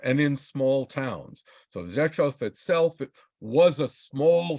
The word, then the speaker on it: Rzeszów: Then on Saturday, we get up and we go to Rzeszów. Did I say it right? Rzeszów. Oh, Rzeszów. Got the beginning, not the end.